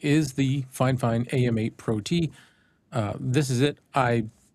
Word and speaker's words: PROT: Red cabin pro t. Yeah, that's that's the way they spell it. P R O T. Pro T. A M A pro T.